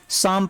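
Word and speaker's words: psalm: तो ऐसे क्या पढ़ेंगे, शाम पढ़ेंगे। क्या पढ़ेंगे इसको, शाम, यानी यहाँ पे देखिए पी वर्ड भी साइलेंट है और एल वर्ड भी साइलेंट है, इसको पढ़ेंगे शाम।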